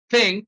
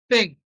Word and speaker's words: think: fricative as T so instead of saying think some said think think you know so your tongue has to touch your upper teeth for you to get this pronunciation and the correct think think all right then this